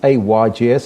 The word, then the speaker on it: AYGS: thank you for having me now what is a ygs and do i pronounce it correctly or is it ages no